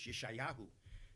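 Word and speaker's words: ישעיהו: Now all of you have heard of Isaiah, and some of you pronounce it Isaiah, and in Hebrew it's Yeshayahu.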